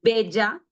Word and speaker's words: bella: Double L, double L is pronounced like Y, as in yam. Pollo, bella.